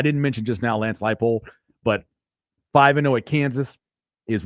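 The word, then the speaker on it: Leipold: to be pronounced correctly it's Lance light pole not Leopold not Leopold I just wanted to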